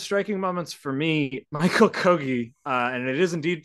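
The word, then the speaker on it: Kogge: of the most striking moments for me Michael kogi uh and it is indeed pronounced kogi let's confirm that again it is pronounced he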